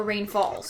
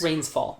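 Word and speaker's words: Rains Fall: Is it Rain's Fall or Rain Falls? Rain's Fall. I had the same struggle for a while. Got it. I said it right the first time and then doubted myself.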